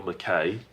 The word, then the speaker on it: Mackay: Mackay or "McKay".